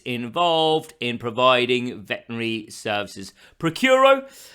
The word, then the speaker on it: Praecuro: in providing Veterinary Services procuro that's how I'm going to pronounce it throughout the rest of the video series don't know whether that's actually how you do pronounce it but let's go with it procuro vet services now